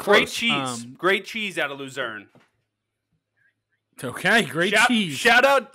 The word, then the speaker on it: Lucerne: great cheese out of lucerne okay great cheese shout out lucerne's cheese they got good dairy farms out there i feel like that's true shout out laverne from scrubs rhymes with lucerne laverne again that's the